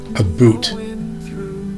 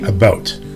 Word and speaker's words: about: We don't say a boot. We say about. Try this. Say about more like a boat.